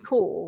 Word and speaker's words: Kaur: Do you know how to pronounce her surname properly? Yeah, it would be Rupi Kaur, right?